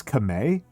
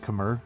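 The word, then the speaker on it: Khmer: that it is pronounced, the R is not pronounced as an R, it's Kame. And nobody else pronounces that way, so I'm just left with this cursed knowledge that very few English speakers have, that it is not pronounced Kamer, it's pronounced Kame.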